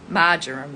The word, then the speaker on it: marjoram: And the animal for rhodonite is the frog, and the essential oil is marjoram. I always say it wrong. Marjoram it is.